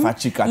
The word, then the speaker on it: Emefa Tsikata: Emefa Chikata.